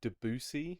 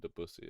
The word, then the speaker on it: Debussy: Um, it's Debussy, not Debussy. No, It's Debussy. It's spelled D.